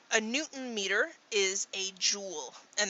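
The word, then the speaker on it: joule: Newton meter is a jewel and that's pronounced just like the gemstone a jewel it just spell is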